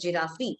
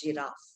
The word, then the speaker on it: giraffe: some will you know pronounce it as giraffree seeing an e there so it's giraffe Now what is peculiar